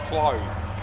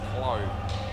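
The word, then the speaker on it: Clauw: So it's Clow. C-L-A-U-W. So he said it's Crow, except it's C-L. So Clow.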